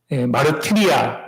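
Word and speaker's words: μαρτυρία: 그래서 증언은 헬라어 발음을 하면 마르티리아 아니면 마르티스가 됩니다.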